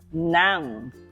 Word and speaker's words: ng: Nang. Can you say that for me? NG is pronounced as nang. Nang.